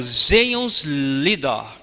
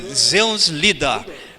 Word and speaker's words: Zions-Lieder: O primeiro inário dos adventistas no Brasil é o Zeons-Lieder. Essa pronúncia, eu procurei lá, Zeons-Lieder, porque é um inário alemão.